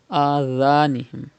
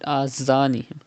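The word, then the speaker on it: أذانهم: Adhanihim. Do not read azanihim.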